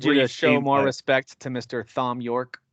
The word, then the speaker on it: Thom: I'm going to need you to show more respect to Mr. Thom Yorke. Thom. I know that it's Tom, but it's spelled Thom because I think it's so pretentious.